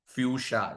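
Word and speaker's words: fuchsia: में एक शेड है, फ्यूशा इसको प्रोनाउंस करते हैं, राइट।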